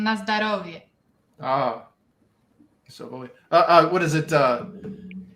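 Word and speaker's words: na zdorovie: It's na zdravie. Na zdravie. It's similar to Russian na zdarovie.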